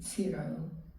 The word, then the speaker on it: Ciro: I kept noticing during the film that we would see Ciro. Is that how you pronounce it?